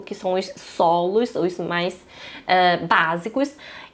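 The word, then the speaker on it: 马: A pronúncia do cavalo é ma, assim, tá? O ma. Já vou mostrar a pronúncia para vocês já sabem que o ideograma cavalo se fala ma, tá?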